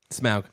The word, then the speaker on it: Smaug: Smaug. Okay, thank you for pronouncing it correctly. I did pronounce it correctly. I would have jumped down your throat if you would have said Smog.